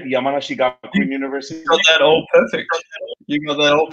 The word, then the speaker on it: Yamanashi Gakuin: Yamanashi Gakuin University?